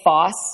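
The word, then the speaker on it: Forss: my name is Foss okay it's f o RSS but the r is silent and so more what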